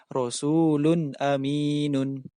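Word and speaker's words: رَسُولٌ أَمِينٌ: Maka wajib dibaca jelas. Rasulun aminun. Tidak boleh dibaca Rasulun aminun. Juga tidak boleh dibaca Rasulun aminun. Tidak boleh. Tetapi harus dibaca Rasulun aminun.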